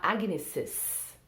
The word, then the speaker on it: Agnes's: Pode falar Agnes's birthday, porque tem dois S's, então a pessoa fala os dois S's.